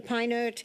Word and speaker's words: Peinert: Am I pronouncing your name properly, Mr. Peinert? Yes, you are. Thank you. Mr. Peinert, Research Manager.